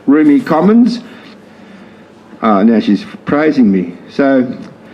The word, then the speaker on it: Rumi Komonz: So Rumi Komonz, pronounced Rumi Komonz.